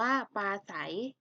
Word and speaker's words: ปราศรัย: จริง อ่าน ว่า จริง ปราศรัย อ่าน ว่า ปลา ไส เป็น ได้ เขียน ไหม